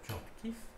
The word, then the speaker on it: Tchortkiv: qui s'appelait Tchortkov, et maintenant il faut prononcer Tchortkiv.